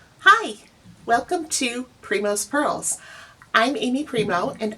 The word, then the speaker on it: Primeau: So, Primo is actually my last name. None of the vowels behave the way they should.